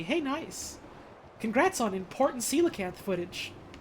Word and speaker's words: coelacanth: Congrats on important coelacanth footage. For years and years and years, I thought they would just pronounce coelacanth. It's not, it's coelacanth. Or something like that, at least.